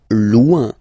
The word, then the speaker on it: loin: Loin, loin. So remember, when you get this combination O-I-N, it's ouin, ouin, ouin, okay? Loin, all right?